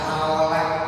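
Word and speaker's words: حول: Memang yang diajarkannya wala haula Hao bacanya bukan jadi O tapi hau La haula di sundahanya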